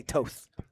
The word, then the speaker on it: Toth: It is the correct way to say Toth.